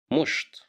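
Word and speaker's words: مشط: Musht, musht, musht, which means a comb.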